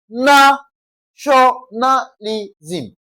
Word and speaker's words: nationalism: Na tionalism. That means the stress or emphasis will be laid on what now? N A, nationalism.